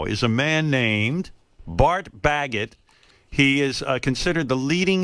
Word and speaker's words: Baggett: Bart Baggett, you say Baggett, right? Yes, Baggett.